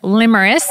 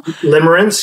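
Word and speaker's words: limerence: Will you talk about this word limmeris? Am I saying it right first of all? Limmerance. Yeah, liarance. Sorry. Limmerance. L I M E R E N C E. Limrance.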